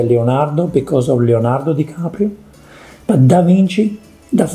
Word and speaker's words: DiCaprio: leonardo dicaprio here i come oh here comes dicaprio caprio leonardo dicaprio has italian backgrounds he's also